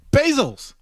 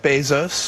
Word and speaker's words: Bezos: you get get it you pronounce his name by the way basos hello my name is Jeff Bezos thank you you win